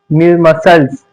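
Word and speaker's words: muscles: एस के बाद अगर सी आए तो सी साइलेंट होगा। जैसे साइन सिंग डि मसल्स क्या यह मसल्स डिसिपल क्या है?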